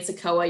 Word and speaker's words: CICOA: with sakawa you he you hear me keep saying sakoa you're like how the heck do i even spell that well it's c-i-c-o-a um and sakoa aging and in-home solutions that's the full full name but if you just refer to us that's sakawa that's sufficient too but just real quick